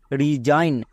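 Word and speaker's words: resign: আর ই রি এস আই জি N Zain রিজাইন রিজাইন মানে পদত ত্যাগ এবার এখানেও দেখো এস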